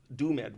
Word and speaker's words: DoomEd: And so they had two artists come in and try to use Doom-Ed, we called it, spelled like doomed, was the editor, and to make levels.